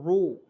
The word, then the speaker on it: row: यहाँ पे दोस्त देखेंगे ROW, जिसे पढ़ेंगे दोस्तों रो, ROW रो, राव नहीं पढ़ेंगे, रो।